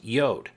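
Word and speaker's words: Jord: for funny name huh it's Swedish and it's spelled j o r d but it's pronounced yo kind of like how my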